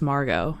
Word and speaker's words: Margot: so how come you if you say your name's Margo why is it like you know spelled like Margaret she's like because my mom wanted to torture me so so she's like no it's strictly just Margot and she has like